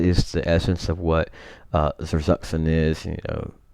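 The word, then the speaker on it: Zersetzung: and these tactics based on, I think it's pronounced Zerzuxen.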